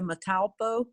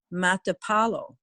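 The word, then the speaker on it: Matapalo: okay uh surfers like to go to playa metalpo and that's m-a-t-a i've mispronounced it playa mata paulo uh and that's about m-a-t-a-p-a-l-o okay that's sort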